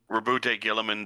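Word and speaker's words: Roboute Guilliman: Like for the longest time I didn't know Rabbute Gilluman. That was how you pronounce his name. I always thought it was you know just another just weird way of saying Robert.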